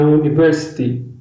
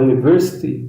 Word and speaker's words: university: He studied in a university. A primeira sílaba da palavra university soa como U. Então usa-se a ao invés de an. Repare bem na pronúncia. University. University. Ok? Não é university, é university.